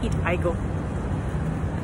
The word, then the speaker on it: Eatigo: And then I discovered that this app called Eatigo, spelled as Eat Igo. Probably pronounced as Eat Igo, but yeah, but it's helps me get this like 50% discount.